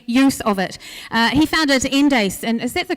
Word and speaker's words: Endace: He founded Endace, and is that the correct pronunciation, Endace?